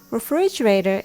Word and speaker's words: refrigerator: from spoiling so fast refrigerator is made up with five syllables refrigerator the stress is on fridge that's why it's called fridge in short form when you separate the